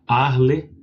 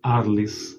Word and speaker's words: Arles: a pronúncia do francês, provavelmente o francês como se não se fala o S no final, a cidade se chama Arle. Mas podemos também falar Arles, porque nós estamos no Brasil e gostamos da do jogo português.